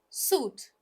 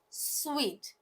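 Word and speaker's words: suite: the next just one suit right but it's sweet like we say sweet next is this one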